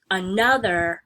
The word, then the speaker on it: another: one gets the emphasis when you say it normally you say the word another with stress on the second syllable we don't say another the stress is not on the first syllable so we're gonna put